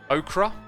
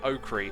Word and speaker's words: okra: one the other day with the edition of okra i looked up the pronunciation and the problem was is that i initially read it and said okri and a man i